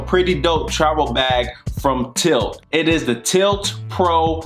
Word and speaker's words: TYLT: what's that Chucky oh it's pronounced tyll tyll sorry is pronounced tilt what's going